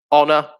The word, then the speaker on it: honor: is a key one honor is another one as well where there's a silent h at the beginning um white yep silent